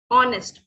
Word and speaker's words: honest: Dash honest man, इसका sound आ रहा है हमारे पास, honest, ओ का साउंड आ रहा है।